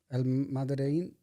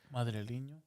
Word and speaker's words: Madrileño: Tangana's album, El Madrein. How do you say it? Madrileño.